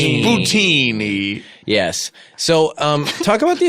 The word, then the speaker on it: bucatini: I also do want to say the Americans do say bucatini, but Kevin is saying the Italian pronunciation, which is bucatini.